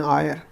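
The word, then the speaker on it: heir: तो क्या हो जाएगा तारा, ये क्या हो गया तारा एन आयर, ठीक है। ये एच दिखा है फिर साइलेंट एच।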